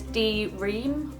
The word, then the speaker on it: D-Ream: This one is D-Ream, like dream, but with a little dash between the D and the R, like D-Ream, dream, D-Ream, D-Ream.